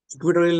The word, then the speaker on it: equatorial: इक्वेटोरियल line के ऊपर चलते हैं, बिल्कुल सिमिलर है इक्वेटोरियल लाइन भी। इक्वी वैसे इसको इक्वाटोरियल बोलना चाहिए, I don't know why इट is called इक्वेटोरियल। हम इंडियंस अपने अकॉर्डिंग थोड़ी सी अपनी प्रोनाउंसिएशन बना लेते हैं।